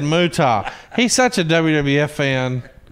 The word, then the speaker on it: Muta: Muta. Okay. This motherfucker hits you with Muta. He didn't even say Muta. He said Muta.